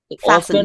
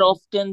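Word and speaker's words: often: এখানে টি আসবে না ফাসেন অফেন আর অফটেন যে অফেন আর অফটেন হ্যাঁ অফ অফ দুটো বলতে পারবেন আপনি সমস্যা নাই অফটেন বলতে বলতে পারেন অফিনেও বলতে পারেন সমস্যা নাই এটাও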